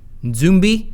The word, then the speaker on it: Nzumbi: It's N-D-Z-U-M-B-I, Nzumbi, meaning corpse, or the Congo language, where it's spelled N-Z-A-M-B-I, Nzambi, meaning spirit of a dead person.